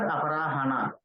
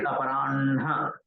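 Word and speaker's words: अपराह्ण: Okay, so Ha and Na, it is not Aparahana, it is Aparanha. From oras, it has to come from chest. Okay, then Na. With Na, Madhyanha, Sayanha. Has to be pronounced like that, not Hana.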